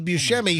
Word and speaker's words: Buscemi: Buscemi, Right.